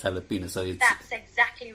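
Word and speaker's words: jalapeño: So it's a bit like jalapeno. The way you pronounce, way jalapeno is spelled is with J, but you pronounce it as jalapeno.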